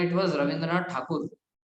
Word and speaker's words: ठाकुर: में इट was Rabindranath ठाकुर, बट क्या है कि इनको ठाकुर प्रोनाउंस करना नहीं आता था अंग्रेजों को, तो ये लोग ठाकुर को ठेकौर ठेकौर ठेकौर करते करते टैगोर हो गया, ठीक है ना, और